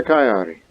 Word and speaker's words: Cagliari: Off to Cagliari. That's how you pronounce that county.